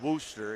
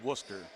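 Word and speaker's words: Wooster: And no, folks, it's not Worcester, it's Worcester.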